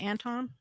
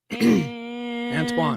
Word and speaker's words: Antoine: Is it Anton? Who? Anton shared it? Antoine. Gotta say it right.